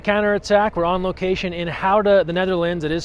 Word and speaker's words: Gouda: here for the counter-attack we're on location in how to the Netherlands it is spelled like Goethe the cheese but pronounced outta here by locals it's the Olympic qualification tournament